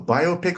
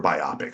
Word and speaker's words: biopic: you a biopic or biopic which one do you go with I I tend to say both but heard that that uh the proper way to say it does not rhyme with myopic biopic it is a